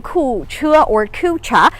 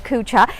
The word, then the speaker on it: Kucha: because i am in ku chua if you like to pronounce it in an english-style cucha and this is actually